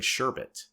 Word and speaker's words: sherbet: Like, I even questioned myself saying sherbet. Yeah, but that's how it's spelled. There is no second R.